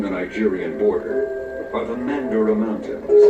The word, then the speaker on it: Mandara: nigerian border are the mandara mountains it is pronounced in english as mandurah this word itself is